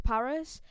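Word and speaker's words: PVRIS: you've not listened to paris it's spelled pv ris obviously i would have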